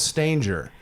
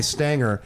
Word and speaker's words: Stanger: Just that my family says Stanger. Stanger. So you're right. Stanger, though, is you. But I found that most people, upon reading it, will give it a hard G and just Yeah.